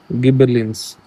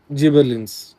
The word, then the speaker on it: gibberellins: मैं क्योंकि मैं गिबरलिंस बोलता हूँ, मगर मैं चाहता हूँ कि प्रोनाउंसिएशन में कोई प्रॉब्लम ना है, इसलिए मैंने चेक कर रहा हूँ, ठीक है।